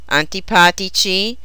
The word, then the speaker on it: antipatici: Their masculine plural endings have a soft C. Simpatici, antipatici, and energici.